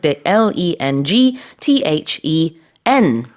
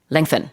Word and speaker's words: lengthen: Lengthening l e n g t h e n. lengthen. Yes. And as a pronunciation guide with with lengthen, there is a slight K in there.